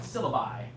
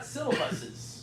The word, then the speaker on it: syllabi: By the way, we pronounce it syllabi. Syllabi. Yeah, no, we do. Yeah. So for the plural, it's kind of weird. Yeah. Why not syllabuses? Syllabuses would be a better way of saying it.